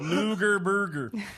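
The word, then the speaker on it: Loughborough: bger she has sound just like that too Luger Burger I am looking for Luger Burger it took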